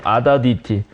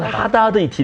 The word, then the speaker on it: 아다드 이티: 아다드 이티 또는 하다드 이티 이렇게 발음이 이제 그 아자가 히읗 발음이 약간 들어가기도 하거든.